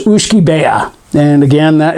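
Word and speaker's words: uisce beatha: life in latin it's aqua vitae but it's pronounced ushkibea and again that it's a tough word uh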